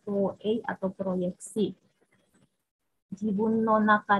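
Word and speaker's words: 投影: Ini bacanya Toei atau proyeksi.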